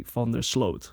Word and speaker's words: van der Sloot: know the the the the emphasis on fender but it's actually here we would say found their slot you know it's very